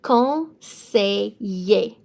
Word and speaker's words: conseiller: So E-I is going to be an A sound. E-R is an A sound. Double L between two vowels is a Y sound. It's going to be conseiller.